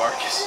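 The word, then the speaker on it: Arkus: Oh, we were both getting the name wrong. It's the Iron Fist of Arcus.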